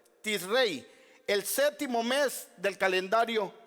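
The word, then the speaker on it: Tishrei: décimo día de Rey si es que así se produce se pronuncia Perdón en hebreo tis rey El séptimo mes del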